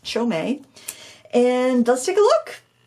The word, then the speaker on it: Qiaomei: to Super Beauty and the rep from Paul Reuben said it's pronounced chomei and let's take a